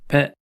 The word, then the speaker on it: ぺ: He with a handakten is pronounced pe.